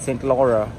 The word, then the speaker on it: Saint Laurent: Yeah, I think that guy just said it right. He's French. He said Saint Laura. Saint Laura.